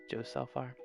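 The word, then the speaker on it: Ljósálfar: Or is it Lajosalfar? Or is it Lajosalfar? Judge themselves, or is the L silent? I think the L is silent, if I'm not mistaken, the first L. Josalfar.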